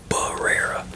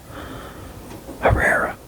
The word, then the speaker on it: Herrera: if I can yeah it could be barera but I always pronounce it as the B is silent so I I pronounce it uh Herrera so I think that's how I usually pronounce it a it I don't